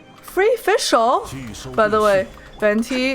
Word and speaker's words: Venti: By the way, Venti is JP Vendi. Venti and JP is Vendi.